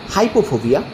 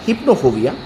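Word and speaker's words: hypnophobia: ঘুমজনিত ভয় কে বলে হাইপোফোবিয়া বা সরি হিপ্নোফোবিয়া হাইপো নয় হিপ্নো এইচ ওয়াই পি ও এইচ ও বি আই এ হিপ্নোফোবিয়া গন্ধজনিত ভয় কে বলে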